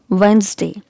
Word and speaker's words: Wednesday: okay it's grandson and it's very common word which is mispronounced often so it's wednesday letter is silent here so it's wednesday wednesday wednesday okay here letter e